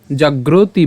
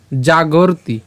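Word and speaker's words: জাগর্তি: হবে কেমন তসসিয়ান এরপর জাগরতি জাগরতি কেন এইযে এখানে রেফ আছে আমরা গ এর সাথে র কে উচ্চারণ করলাম তহলে জাগর এবং তারপরে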